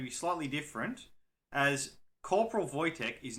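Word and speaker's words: Wojtek: Tango Echo kilo however it is a Polish name and is pronounced voch now today's story is going to be slightly different as Corporal vyc is not a human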